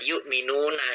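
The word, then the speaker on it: يؤمنون: Nah, ini nih kita bacanya bukan wau, tapi bacanya tetap hamzah. Yukminuna gitu kan.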